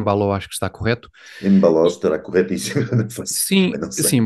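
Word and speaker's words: Embaló: acho que está correto em baló estará corretíssimo sim sim baló tem o acento no or Não há dúvida eh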